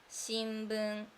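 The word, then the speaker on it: 新聞: We use same characters for these things like newspaper 新聞 newspaper 新聞 we have sound in the second 新聞 newspaper 新聞 this sound is like m sound 新聞 but we use this hiragana for writing.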